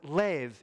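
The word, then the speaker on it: לֵב: The word for heart normally pronounced lev in Hebrew.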